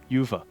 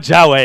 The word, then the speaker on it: Yuva: Yuva. Yuva. I was close. I'm getting closer. Yeah. Yuva. It's not Jawa anymore.